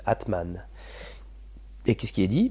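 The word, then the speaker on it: Âtman: faire une recherche tu vois c'est latman ça s'écrit a accent circonflexe t m a n Atman et qu'est-ce qui est dit B c'est le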